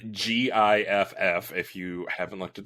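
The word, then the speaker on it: gith: half of them saved with a hard g and half with a soft g disagreements over the correct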